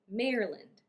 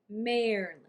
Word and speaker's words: Maryland: bangor it's bangor next maryland maryland maryland some people might say maryland maryland with an extra syllable after mayor but it is definitely not maryland we do not say maryland maryland or maryland and some cities in